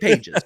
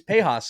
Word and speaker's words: Pages: Andy Pejas. It's Pejas, not Pages. It looks like Pages. It looks like Pages, but it's Pejas.